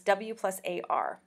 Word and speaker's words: war: that the word shifts the graphine sequence w+ a r w r is now pronounced war with an O I think I started